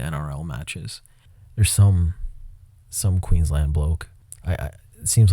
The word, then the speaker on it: Queensland: um just a note Queens land is pronounced literally as if it was written Queens land not a reduced Lun